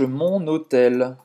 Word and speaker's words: mon hôtel: Je cherche mon hôtel. Je cherche mon hôtel. Faz a ligação. Mon hôtel. Ou seja, entre o N e o H aqui, é como se fosse uma só palavra, né?